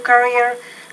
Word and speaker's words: career: have and consider a career that fits his lifestyle. okay, and take that word career. Career. So you got to pronounce that R a little more clearly.